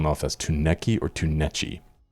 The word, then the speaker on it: Tunechi: But at least we found the proper pronunciation, Tunechi.